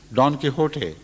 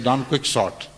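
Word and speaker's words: Don Quixote: simply with reference to Don kot or as it mispronounced as Don Quick shot a an epic work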